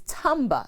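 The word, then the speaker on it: timbre: there is timber t-i-n-b-e-r and there is tamba spelled t-i-m-b-r-e which means the distinctive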